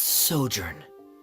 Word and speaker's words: sojourn: Director Zosimos, how do you pronounce this word? Let me see. Ah, that's sojourn.